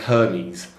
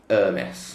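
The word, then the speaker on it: Hermès: Hermes, for those of you who are not in the know, it looks like Hermes. Yes. Hermes, but it's Hermes, if you want to pronounce it correctly.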